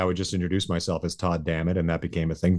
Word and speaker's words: Todd Dammit: Well, Todd Dammit rhymes with God damn it, so that was kind